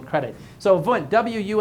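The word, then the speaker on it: Wundt: James but we'll give V credit so V Wu n DT it was German so it's pronounced V even though it starts with a w Wu n DT I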